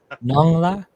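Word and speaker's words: nón: whatever he just said nongla nong Nong like you know none and space I a maybe that's helping you pronounce I'm now helping you annunciate it just n o n g nong nong if you say you say it works.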